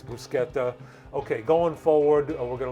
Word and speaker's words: bruschetta: again by the way don't pronounce it bruschetta please it's brusketta okay going forward we're